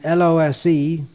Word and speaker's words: lose: the same way, but the way the word lose, L-O-S-E, is pronounced sounds more like it should have a double O in there, but it doesn't.